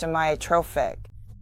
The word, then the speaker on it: amyotrophic: The first word is pronounced amiotrophic.